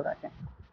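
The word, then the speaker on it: wrong: এস টি ওয়ার্ডটা থাকা সত্ত্বেও তারা কে এর উচ্চারণটা করে না বা উজ্জ্বল রাখে, এটাই হচ্ছে নিয়ম।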